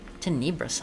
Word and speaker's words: Tenebrous: Tenebrous Isle. Emphasis on the first syllable.